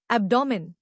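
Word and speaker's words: abdomen: करके लिखो स्पेलिंग आसान एब्डोमेन अब डू मैन अब डूमेन ए बी ए डी ओ एम ई एन एब्डोमेन तीन हिस्से अब डू मेन जोर पहले हिस्से पर अब डूमेन पॉलन पॉल ले पॉल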